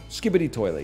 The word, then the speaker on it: Skibidi Toilet: Skibidi Toilet, yeah.